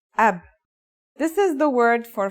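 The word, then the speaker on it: أب: a new word can you read this it's pronounced AB this is the word for father in Arabic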